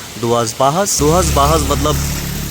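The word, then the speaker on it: Duas Barras: That's दुआस बारस बट it's pronounced एज दुआस बाहस।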